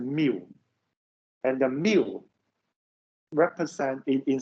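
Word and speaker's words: μ: This is not U. This is the mu.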